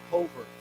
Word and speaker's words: covert: Covert. Yeah, it's funny, we say overt, but we do not say overt, we say covert. Okay, so the accent is different.